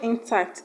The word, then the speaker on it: intact: ocean B intact intact the word intact is not a noun and it's also not a verb it's an adjective just because it's not a noun it will not have a stress on the first level but on the second syllable option C negotiates negotiate